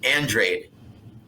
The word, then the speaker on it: Andrade: name on an interview you better say it right it's andrade so i'm sorry as